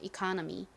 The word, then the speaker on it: economy: 한국식 발음은 이코노미, 미국식 발음은 economy입니다. economy. 이 카 부분에 강세를 주셔야 된다고 말씀드렸죠?